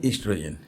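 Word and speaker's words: oestrogen: ओ ई एस टी आर ओ जी एन ठीक है तो ओस्ट्रोजेन लिखा हुआ है लेकिन पढ़ा जाएगा इस्ट्रोजन तो ये जो स्पेलिंग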